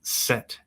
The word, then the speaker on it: Z: In the beginning was the word the sword zed is pronounced set in Norwegian. So the letter Z is pronounced set in Norwegian which was an interesting